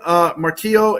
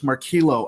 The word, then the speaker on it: Marquilo: Again, Marquillo and Chris, I want to thank you both By the way, it's Marquilo.